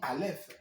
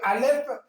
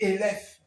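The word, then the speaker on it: אלף: que pour écrire Ellohim, autant on dit alf. Hm hm. Mais sachez que alf peut se prononcer aussi élèf.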